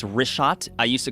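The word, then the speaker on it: Richat: In the first couple uh I just want to say it's Rishot. I used to call it Rickot. I was mispronouncing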